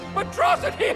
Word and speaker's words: Metro City: You and Metrocity. It's pronounced Metro City. Metrocity, Metro City.